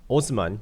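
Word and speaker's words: Haussmann: 자, in more recent times, George Eugene Osman, 이제 영어로 이제 하우스만이라고 하는데 이제 이게 얘가 아마 그 프랑스 사람인가 봐요.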